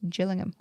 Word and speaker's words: Gillingham: There's another Gillingham and Kent which is pronounced Gillingham.